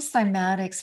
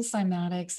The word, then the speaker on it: cymatics: it might be the introduction well let's find simatics for those who aren't familiar with the term and first of all spell it c y m a t i CS